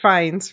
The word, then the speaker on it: Fiennes: never know how to pronounce his last name. I'm so Rafe sorry. Fiennes, Rafe Fiennes.